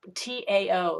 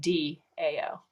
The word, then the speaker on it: Tao: That why is it TAO if it's pronounced DAO? You can pronounce it Tao.